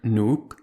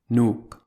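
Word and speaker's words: Nuuk: to a syllable OU the word nuke which is the capital of Greenland contains one long vowel with two surrounding consonants so it only has one syllable nuke note that greenlandic also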